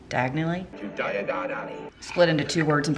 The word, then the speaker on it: Diagon Alley: And who here knows, this is so obvious, everybody probably knows this, is Diagon Alley in Harry Potter is actually just diagonally. Diagonally? Diagon Alley.